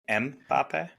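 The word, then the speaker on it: Mbappé: know this oh mbapp yeah that's how you pronounce his name mbapp yeah he's fun I like it he was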